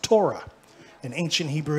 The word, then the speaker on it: Torah: love the law that's in modern Hebrew that's pronounced Torah in ancient Hebrew it's pronounced anounced Tha amen